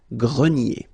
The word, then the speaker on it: grenier: Remember this ER here at the end will give you the sound E, nier, grenier.